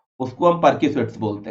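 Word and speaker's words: perquisites: अब एक वर्ड यहाँ पे लिखा हुआ है प्रेक्यूसिट्स, याद रखिएगा, परक्यूसिट्स, यस परक्यूसिट्स इसको बोलते हैं, स्पेलिंग याद रखिएगा।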